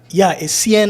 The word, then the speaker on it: Essien: That's how I would have pronounced it. Yeah, Essien actually is the pronunciation.